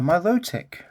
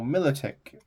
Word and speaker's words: Milotic: he is horsey and a myotic or Milotic I I've always called it myotic um got an armage